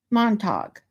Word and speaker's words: Montauk: Montauk is pronounced as if it rhymes with glue at the end. Unless you live there, then it rhymes with Q.